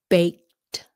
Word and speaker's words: baked: Bake becomes baked. Baked sounds like a t.